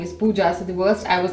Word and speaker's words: Pooja: So basically in German the J is pronounced as ya, so they call me Puya, and I don't even correct them at this point of time.